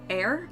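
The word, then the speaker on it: Aer: stuff then we've got air I think is how you pronounce it memories of old it's spelled a-e-r and it's very similar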